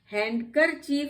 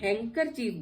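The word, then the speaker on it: handkerchief: हैंकर चीफ नहीं बोलते हैं हम, ये भी आपकी एक्सेप्शंस है। तो यहाँ पे भी हैंकर चीफ बोलते हैं, लेकिन डी साइलेंट है इसमें।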